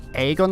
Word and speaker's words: Agon: I don't think it's Agon, I think it's Aegon the way it's pronounced.